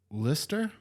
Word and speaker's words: Leicester: Lister. It's Leicester. Leicester. Oh, fuck. These are all like British things. and Like that's spelled Leicester. Lister. Leicester. Leicester. Like a person's name.